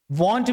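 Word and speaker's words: won't: वॉन्ट भी बोल सकते हैं, इसका प्रोनाउंसिएशन वोंट भी होता है, ठीक है।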